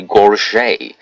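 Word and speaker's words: gorget: it's supposed to be a Gorge which I think that's how you pronounce it g-o-r-g-e-t it's apparently supposed to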